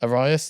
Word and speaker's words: Arias: We had, I'm going to pronounce his name wrong, Zach Arias. Zacharias. Arias, there we go.